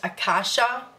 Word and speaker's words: Aasha: do it with respect my name is pronounced aasha first name fur last name as in